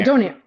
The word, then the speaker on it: donair: Is it pronounced donaire or don? Yeah, donaire.